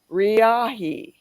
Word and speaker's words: Riahi: It is actually 5 easy letters, 3 syllables. Riahi, Riahi.